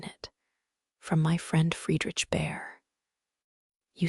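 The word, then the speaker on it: Bhaer: It isn't pronounced either bear or beer, as people will say it, but something between the two, as only Germans can give it.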